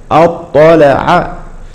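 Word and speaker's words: اطّلع: فهذه الطاء لا تقلقل فلا نقول اط اطلع اطلع الغيب هكذا ننطقها كذلك مثال اخر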